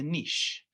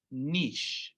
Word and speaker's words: niche: So we're going to talk about the difference between a habitat and a niche. And yes, niche is the pronunciation of this word, not niche. I hear niche all the time. It's niche.